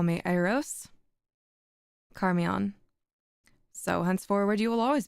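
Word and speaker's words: Charmion: The conversation of Eros and Carmion. I'm going to assume it's Carmion. Carmion. I believe the CH is pronounced as a K.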